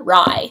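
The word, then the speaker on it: Rhy: Rye is Rye, like the bread. Lila is Lila, like Delilah, which her name is taken from, not Leela or anything else like that. Holland, obviously, is Holland. Lila, Rye.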